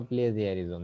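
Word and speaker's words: plagiarism: কি বলবো প্লেজিয়ারিজম বা সেটা হচ্ছে প্লেগিয়ারিজম অথবা প্লেয়ারিজম যেটাই তোমরা প্রোনাউন্সিয়েশন করো সেটাই যে কোন ব্যক্তি বা প্রতিষ্ঠানের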